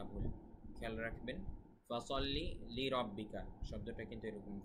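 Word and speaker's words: فَصَلِّ لِرَبِّكَ: ফাসাল্লি লিরাব্বিকা শব্দটা কিন্তু এরকম, ফাসাল্লি লিরাব্বিকা ওয়ানহার। ফাসাল্লি সদের উচ্চারণ খেয়াল রাখবেন, লিরাব্বিকা ওয়ানহার হায়ের উচ্চারণ খেয়াল রাখবেন।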